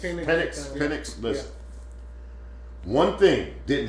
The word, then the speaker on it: Penix: Finks, that guy. Is that how you say his name? Penix.